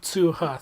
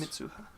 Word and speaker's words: Mitsuha: Mitsuha. 3 syllables. Mitsuha. It's a lot of vowels.